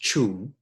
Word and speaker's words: Ching: It's spelt Ching, pronounced Chung, by Lao Tzu.